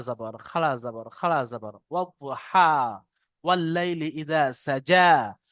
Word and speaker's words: إذا: জালের উচ্চারণ আলাদা আর জিমের উচ্চারণ আলাদা। জিমটা একটু চেপে পড়বেন, জালটা হালকা করে। ওয়াল্লাইলি ইযা সাজা। الليل إذا سجى ইজা, এটা জিমের মতো হয়ে যাচ্ছে, এটা হালকা করে পড়েন।